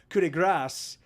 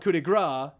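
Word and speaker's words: coup de grâce: it's so it's actually pronounced in french is pronounced coulde grass and i but but in american english we call it kudegra you there are others yeah she's right and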